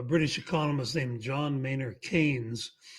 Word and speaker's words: Keynes: Uh well, Keynesian is named after a British economist named John Mayor Kanes. It's pronounced like candy cane, c- an-s, but it's spelled keyn.